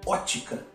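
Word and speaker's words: Óptica: são a ciência chamada Ótica a gente escreve com esse tem aqui mas não pronuncie não é o p mudo pode ficar na área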